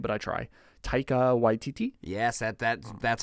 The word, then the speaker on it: Taika Waititi: another gentleman who I don't know how to pronounce his name, but I try. Taika Waititi.